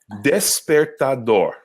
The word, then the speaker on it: despertador: I love this word because in Brazilian Portuguese, it has 4 syllables. And in the Portuguese of Portugal, it has 1 syllable.